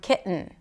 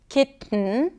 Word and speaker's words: kitten: Ki, glottal stop, and then an N, Kitten.